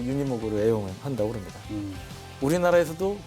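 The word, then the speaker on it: Unimog: 근데 생긴 거는 좀 허름하게 생겼는데 하여간 굉장히 이렇게 파워풀한 건데 독일식 발음은 이제 우니모크죠. 우니모크인데 터미네이터로 유명한 아놀드 슈왈츠네거 하면 험비만 생각하는데 험비는 허머만 생각하죠. 근데 사실은 이 슈왈츠네거가 또 유니모크로 애용을 한다고 그럽니다.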